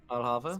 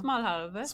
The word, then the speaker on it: smalahove: Alhava? Smalahove. Smalahove. That's the Smalahove. sheep's head. Oh, gotcha. Yeah. Smalahove.